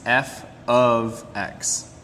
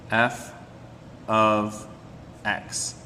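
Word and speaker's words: f(x): have this right here and the way we pronounce this is f of x f of x and this right here tells us that this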